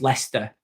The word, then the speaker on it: Leicester: I don't know how to pronounce leester.